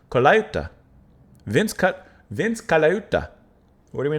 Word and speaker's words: Colaiuta: You have Vince I can never pronounce his last name. Colaiuta.